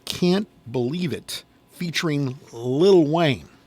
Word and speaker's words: Lil Wayne: Anyway, this rhyming fiasco goes back to a 2008 song called "Can't Believe It," featuring Lil Wayne. Not Little Wayne. Lil Wayne.